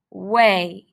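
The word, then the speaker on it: weigh: way read the word way this is the a pattern with e i remember that g h is silent way sound sound er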